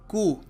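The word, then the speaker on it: coup: in Pakistan a military कु यह शब्द है कु इसको कहते हैं इसका मतलब होता है तख्ता पलट कई लोग इसको कुप पढ़ देते हैं पी इसका साइलेंट होता है कु ठीक है तो अनदर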